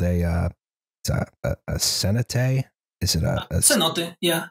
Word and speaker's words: cenote: This is something called a cenote.